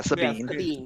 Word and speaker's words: Sabine: Yeah, Sabine.